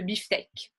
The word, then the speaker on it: beefsteak: Le K est généralement prononcé. Okay, the K is usually a letter that is pronounced. There's not that many words that end with K in the French language. Comme un anorak, hein? Un look, again, taken from the English. Le beefsteak, steak, beefsteak. Steak aussi, c'est vrai.